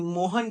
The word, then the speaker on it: मोहन: और मोहन का जब हम उच्चारण करते हैं, मोहना, मोहन का जब उच्चारण करते हैं तो लास्ट में क्या आ रहा है? अ का साउंड निकल रहा है, यानी मोहन क्या है?